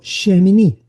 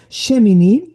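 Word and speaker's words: שמיני: Entonces, dentro de lo que es el orden, el octavo día se dice en hebreo shemini.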